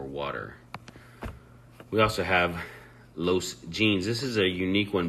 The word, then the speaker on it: jeans: to rain or water we also have Los jeans this is a unique one because you don't actually pronounce the h the way you typically would